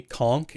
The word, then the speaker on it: conch: looked into it, and apparently conch is like a Florida and Caribbean thing, and I'm like, okay, well, it makes sense of why. That's I say why that. Because that's what I always heard growing up too, and it wasn't. It's sort of an islander way of saying it versus like I'd guess like British and English pronunciation of conch.